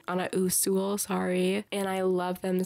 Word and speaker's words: Usul: custom like the TV show Dexter on a usil on a usul sorry and I love them so much like